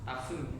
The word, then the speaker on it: parfum: Parfum. It's pronounced differently.